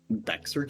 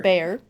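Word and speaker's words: Bexar: Beexer County. It's like It's like Dexter but Beexer. It's Bear County. What? Bear. Bear County. Okay. All right. Sure. Bear.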